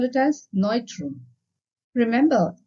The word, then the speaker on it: Neutrum: In German, we call it as Neutrum. Remember, EU anywhere in the word is pronounced as oi.